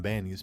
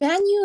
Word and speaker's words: Ban Yue: escape from Banyu's past. Banyu is not the worst pronunciation I've ever heard, but it's supposed to be Banyu.